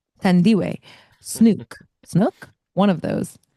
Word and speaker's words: Thandiwe: pronunciation, Tandiwe, Snook, Snook.